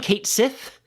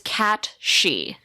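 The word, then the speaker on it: Cait Sith: Kate Sith? How do you pronounce it? I believe it is Cat She.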